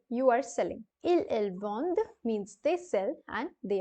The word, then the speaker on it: vendent: And lastly, you have il, elles vendent. Il, elles vendent with an ENT ending, and again reminding you that the ENT will remain silent here, and all you have to do is pronounce it as vende.